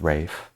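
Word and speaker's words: Ralph: everything he's in um it's actually pronounced Rafe is it cuz he's from Ireland Irish and that's how they say it there no way it's Ray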